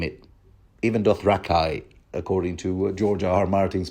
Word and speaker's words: Dothraki: out iones volantines doth you name it even doth rakai according to George Martin's pronunciation thoros and Lord ber were everywhere you